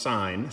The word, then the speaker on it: sine: So sine, which is abbreviated SIN, but it's pronounced sine, sine of theta is equal to the opposite side divided by the hypotenuse.